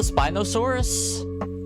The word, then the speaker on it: Spinosaurus: It's pronounced like spy. Oh, like Oh, wait. Is this the Spinosaurus?